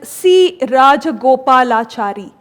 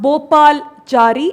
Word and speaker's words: Rajagopalachari: Bal Zari minus one you're not pronouncing the name properly at all it is C rajagopalachari it's not Bal charari it is C Raja